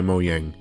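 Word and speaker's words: Mojang: minecraft is owned by mo yang and i swear to god if you told me that it's not pronounced that way i'm gonna come to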